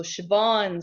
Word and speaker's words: Schwann: are called Schwann cells the W is pronounced like a B so Chabon cells so Chabon cells